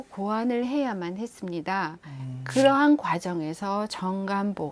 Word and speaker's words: 정간보: 봤으니까 그 정간 본대에 요즘 사람들은 자꾸 발음이 경험 화 되는 경향이 있어서 정감 뽁 이럴까 맞았는데 그건 틀린 발음이 고 요래 정간 아까 키보